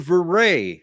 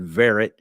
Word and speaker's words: Verret: and goes oh Mr varay and I was like wow somebody finally got the pronunciation right because technically the French pronunciation is very and a lot of people call me like I said verit and uh in Louisiana